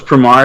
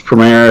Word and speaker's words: Promare: I thought it was Promare because I wasn't hearing anybody online pronounce it. So that's apparently how it's called in the world. It's Promare.